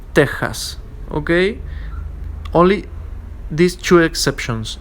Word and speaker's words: Texas: are Mexico and Texas, which in Spanish are pronounced especially as Mexico, Texas, okay, with the aspirating phoneme, which is equivalent to an English H. Mexico, Texas, okay?